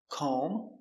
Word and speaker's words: comb: So remember, whenever you see MB at the end of a word, the B is always silent.